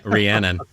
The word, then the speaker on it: Rhiannon: How do you say that? Reunion. Yeah, Rhiannon. Rhiannon.